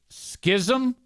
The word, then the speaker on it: schism: Schism rhymes with jism and the zaniac exodus."